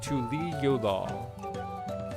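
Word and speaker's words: Tuliyollal: If you want an easy pronounced guide, it's like Tuli Yolal.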